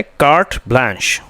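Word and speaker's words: carte blanche: ठीक है, तो इसका प्रोनाउंसिएशन क्या है? कार्ट ब्लांश.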